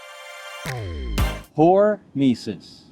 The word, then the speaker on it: hormesis: let me explain hor mesis horis hormesis I realize it doesn't sound right when you break it down into two different syllables but pesis when it